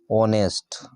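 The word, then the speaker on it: honest: तो यहां पर देखि एच जो होगा इनका क्या होगा साइलेंट होगा और हम पढ़ेंगे कहां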